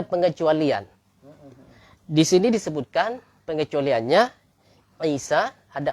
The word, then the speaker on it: Isa: Singkatnya, kata Isa nggak boleh dibaca Ise.